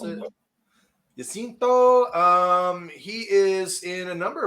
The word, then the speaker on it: Jacinto: His name is Manny Jacinto, if you want to pronounce it. Jacinto.